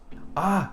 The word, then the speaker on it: あ: This is the first one, and it is pronounced ah. Now, in American English, it sounds kind of like father or car or ah.